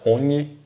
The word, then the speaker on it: ogni: GN, pessoal, GNI tem o som de NH, então ogni bugia.